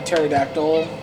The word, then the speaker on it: pterodactyl: Velociraptor, she gave me, she goes, do you know why you never hear a pterodactyl going to the bathroom? Because the Because P he is is silent.